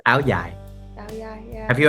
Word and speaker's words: áo dài: It's Áo Dài. It's a different accent. Okay. And then in the northern Vietnam, they call it Áo Dài. Oh. With a Z.